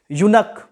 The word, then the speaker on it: eunuch: यूनक, EUNUCH, EUNUCH को क्या बोलते हैं, यूनक बोलते हैं। तो यूनक यो से फिर आया, चूंकि इसका फर्स्ट लेटर